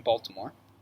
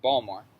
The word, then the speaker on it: Baltimore: college of art in baltimore or baltimore you know say the t um just like in maryland just like maryland yeah don't pronounce the t no um so so